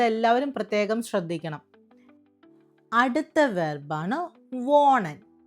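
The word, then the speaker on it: wohnen: വോണ്ട് എക്സ് വോണ്ട് Diya വോണൻ ഇയ വോണ്ട് സി വോണൻ സി വോണൻ വെർബുകളുടെ ഉച്ചാരണം നമ്മൾ പ്രത്യേകം ശ്രദ്ധിക്കണം കേട്ടോ നമ്മൾ ഇവിടെ ഹ വന്നിട്ടുണ്ട് ഹ ഇവിടെ സൈലന്റ് ആണ് അപ്പോ നമ്മൾ ഇന്ന് ആറ്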